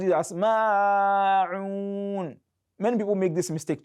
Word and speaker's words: الْمَاعُونَ: So many people also pronounce it as ma'un. Many people make this mistake too. So it is ma'un, madul asl. That is a fundamental mad, just twice. Ma'un, ma'un, ma'un.